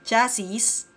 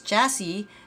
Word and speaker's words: chassis: Now I know, it's chassis, not chassis. Again, let's listen to it. Chassis.